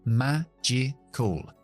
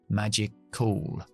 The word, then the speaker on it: magical: Aquí tenemos 3 sílabas en esta palabra, magical.